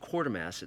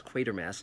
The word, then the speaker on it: Quatermass: Now, often that's mispronounced Quartermass. No, it's Quatermass, just like it's Alan Quatermain in King Solomon's Mines, not Quatermain.